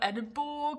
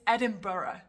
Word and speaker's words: Edinburgh: It's not Edinburgh or Edinburgh, it's Edinburgh.